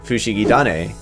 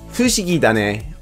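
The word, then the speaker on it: フシギダネ: the first opening arubensha the taha sound from tane becomes a da sound because of a japanese language quirk known as sequential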